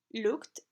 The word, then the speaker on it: looked: Con los infinitivos que terminan en P, F, K o S, consonantes sordas excepto T, pronunciamos la terminación ed como una T. Ejemplos: looked y kissed.